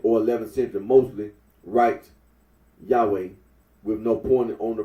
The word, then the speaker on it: Yahweh: for the name yahi the scholarly consensus is that the original pronunciation of the tetr gron was yahwe arino agrees that when